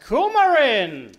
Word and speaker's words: coumarin: It's pronounced coumarin. Thank you. It has more coumarin than found in cinnamon than the EU rules allow.